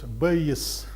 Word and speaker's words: Bayes: this name here well first nobody really knows the right way to pronounce it i consulted the internet and found at least three different versions of of pronunciation base base one one of the versions bayes is another one and some other versions are also possible now actually it's the